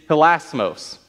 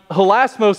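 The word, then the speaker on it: ἱλασμός: be h-i-l-a-s-m-o-s that is the word for atonement in greek that's the word that john uses here in this verse now holasmos in a literal sense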